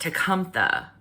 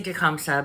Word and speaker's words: Tecumseh: Now, his name is supposedly pronounced Tecumtha in Shawnee. But, I'm going to say Tecumseh because if I try